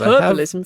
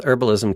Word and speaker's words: herbalism: argue herbalism yes because herbalism for sure i have skills with herbalism kids what you don't pronounce the h in herbalism so it blows my